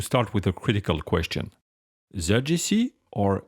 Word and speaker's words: ZGC: Well, so there's no preferred pronunciation. Both are fine. Personally, I usually say ZGC, but a lot of people say CGC, and I guess it depends on which side of the pond you're on.